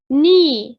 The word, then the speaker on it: knee: knee طبعا K silent يعني صامت، يعني حرف ساكن أو صامت. knee لا يلفظ الكي.